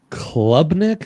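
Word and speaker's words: Klubnik: The places we are going Jake is LSU Clemson a little Nusmeire V Clubnik. Is that how I pronounce his name?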